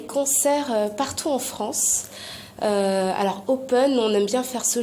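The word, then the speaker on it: Hopen: Alors, il y a un concert du groupe Open, ça s'écrit H-O-P-E-N.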